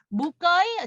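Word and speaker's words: 唔該: 근데 음거이 발음이 무거이 지난번에 한 분이 스페링이 무거이 음거이 뭐 이렇게 얘기하셔서 그냥 편안하게 음거이라고 하시면 됩니다.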